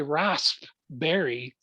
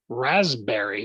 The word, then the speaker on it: raspberry: And so I like to say raspberry, with that emphasis on the P, but for whatever reason, English says raspberry, like 2 Z's in it, or Z's.